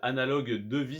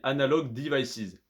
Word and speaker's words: Analog Devices: on analyse l'action pardon analog devices analogue de vie si tu préfère donc analogue à enda est logé espace dvi c es à nice analog devices si on le prononce en anglais parce que du coup